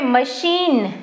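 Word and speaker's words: machine: right यहां पे मशीन बड़ी ई के जैसे पढ़ रहे हैं आई का साउंड मशीन और यहां पे आई के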